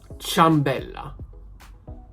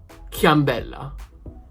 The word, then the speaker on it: ciambella: For example, CIA, ciambella. Ciambella, not chiambella. Because the hard sound of CA, which is pronounced k, ka, because of the I, has become a soft one. So has become cha, ciambella.